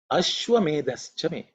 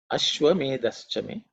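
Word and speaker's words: अश्वमेधश्च मे: So it has to be aspirated, it has to be stated with certain emphasis, because it's the fourth letter in the tha varga.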